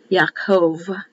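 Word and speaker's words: יעקב: so it would be yakov it would be pronounced with a v not a b and that means the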